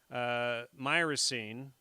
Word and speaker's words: myrcene: CBD and to high THC to CBD and myrcene. And then, how do you pronounce it?